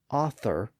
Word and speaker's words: author: t as cine and he specifically says that author and Authority should be spelled with a simple t because they were pronounced with a simple T sound so he used the